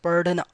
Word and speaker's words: पढ़ना: Alright, so it's not DH, perfect DH sound, but little R sound comes. Padhna, alright, so it's padhna.